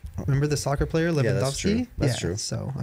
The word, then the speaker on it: Lewandowski: So a W in Polish is typically pronounced with a V. Yeah. How do you know this? Because that's how they say it. Lewandowski. Remember the soccer player Lewandowski?